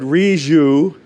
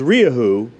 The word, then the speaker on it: Rieju: heard riaju and then I've heard riju and REE who but I always was told it was riyahu and then I was corrected so I don't know did you notice the two different pronunciations so we're wrong too